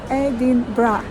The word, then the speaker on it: Edinburgh: actually pronounce that word and they wrote me edin bra that is the correct pronunciation edra edra but when they say fast